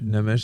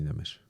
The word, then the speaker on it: Nemes: de recevoir pour la première fois monsieur Laslo Nemes. Alors on dit Nemes. Nemesèche comment on prononce ? Comme vous voulez. Vous pouvez dire Nemes ou P Nemesche. Namèche c'est hongrois c'est un ça se dit Namèche.